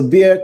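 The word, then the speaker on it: Bexar: looking for the screen nobody knows the S is silent okay thank you thank you all right so beer County yes there's no way I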